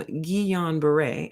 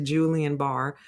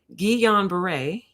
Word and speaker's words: Guillain-Barré: So what if somebody suffered from Guillain-Barré? I have to keep saying it correctly, otherwise my brain will go right back to Julian Barr. Guillain-Barré.